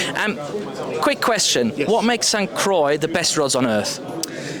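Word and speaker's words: St. Croix: pronounce it s c was it the French saying sanqua I've heard squa I've heard s cro which is probably incorrect but s Croy is it's what I say okay fantastic um quick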